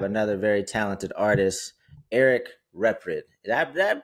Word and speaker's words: Reprid: And today we're blessed to have another very talented artist, Eric Reprid. Did I pronounce that correctly? Yeah. Oh, perfect. That's perfect. Okay, go. Reprid, but no, Reprid is exactly it.